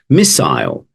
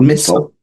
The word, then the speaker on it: missile: here here we go first one is missile not missile yeah I know you know as I was saying I was like I've just American pronunciation there I do you know